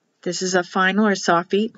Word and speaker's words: sofit: On the other videos on my YouTube channel for pronouncing the words and letters, they will say sofit. The I is pronounced like an E.